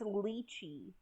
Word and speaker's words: Litchi: Litchi Light Club. I might be saying that wrong. This is a manga about a group It's pronounced lychee, like the nut.